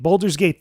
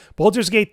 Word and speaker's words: Baldur's Gate: other articles including my review of Boulder gate Boulder's Gate three I almost said it wrong Baldur's Gate 3 just came out not too long ago